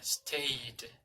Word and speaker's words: stayed: Y la pronunciación es como si fuera una T al final. Stayed.